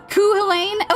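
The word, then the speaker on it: Cú Chulainn: Kuh Helain. Okay, that's what I thought. That's what I thought. Kuh Helain. Okay. Okay. That's also what it seems like here. Kuhalain.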